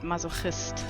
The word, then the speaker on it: Masochist: And it is in German you would pronounce it mazohist.